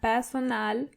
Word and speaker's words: Personal: So, it's similar, but you have to roll your R one more time. Der Personal Trainer. And the R in Personal is more obvious than the English version.